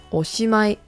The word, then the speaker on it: おしまい: So once again, this word is pronounced おしまい.